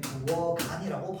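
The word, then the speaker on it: 부엌 안: 자, 그리고요, 아는요 실질 형태소이기 때문에 부어간이라고 발음해줘야 됩니다.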